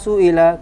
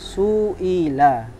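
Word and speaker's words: سُئِلَ: Alaihi Wasallam Hai lama suila ketika Rasulullah ditanya Hi to bacanya suila suila artinya ditanya Hai kalau sa'ala artinya bertanya salah-salah seiring meazza biru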